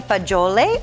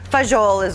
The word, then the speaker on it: fagioli: So we are ready to enjoy our pasta fagioli or fagiol is what a lot of people call it, but fagioli is the correct correct pronunciation in Italian.